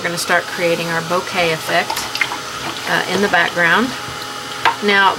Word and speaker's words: bokeh: and by the way it is pronounced bouquet not boca i have heard other